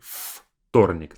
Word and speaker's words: вторник: Notice that I say вторник, like an F sound, versus it's spelled as V.